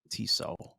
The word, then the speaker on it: Tissot: It's pronounced Tissot.